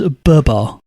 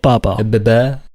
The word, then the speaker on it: Babar: murdering that i guarantee you um he actually pronounced the name as burba not baba so they they went with barbar for the